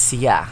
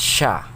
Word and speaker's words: siya: So, it must be pronounced as siya. However, the Cuyunon native speaker pronounced it as sha, where the s sound is substituted or changed into sh sound.